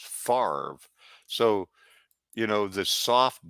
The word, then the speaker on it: Favre: It's not as bad as Brett Favre, Favre. That'd be Favre, but it's pronounced Favre.